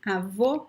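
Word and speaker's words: avô: closed o closed oh we have the word avo which means grandfather ava means grandmother avo grandfather okay so the only difference in pronunciation in these words is the open or the closed eye okay then we have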